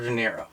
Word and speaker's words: De Niro: It is pronounced De Niro.